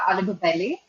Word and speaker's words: Alugubelly: So I'm Alugubelly. That's the last name. Alugubelly is a very Telugu name.